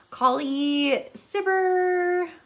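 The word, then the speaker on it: Cibber: this wrong I'm so sorry about I pronounce mispronounce things all the time Kali siber yeah it's c-i-b-b-e-r and he took Shakespeare's version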